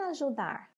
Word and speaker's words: ajudar: Em ajudar, vamos chamar a palavra? Chama aí comigo. Ajudar. Qual que nós pronunciamos por mais tempo? O dar.